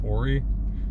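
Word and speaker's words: Ouray: go there's a town I think it's pronounced Ori did a wine tasting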